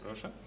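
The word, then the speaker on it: Roșta: Is my pronunciation correct? Yeah, ROŠTA.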